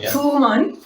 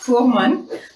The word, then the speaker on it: Fuhrmann: Fuhrmann, yeah. Fuhrmann.